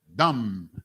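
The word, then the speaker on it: דם: Dumb in the ancient Hebrew. You understand? One syllable.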